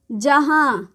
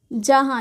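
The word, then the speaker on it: جہاں: का काम करता है जैसे हम जहां लिखेंगे तो ऐसे जहां यह वाला यह जहा हो गया और यह नुन गुन्ना जहां इसी तरह यह जहा है जहा अगर ऊपर चंद्र बिंदु डाल देते हैं तो जहां हो जाता है तो यह दो टाइप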